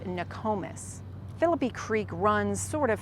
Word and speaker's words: Nokomis: Next is a community south of Sarasota, but north of Venice, and this is pronounced Nokomis.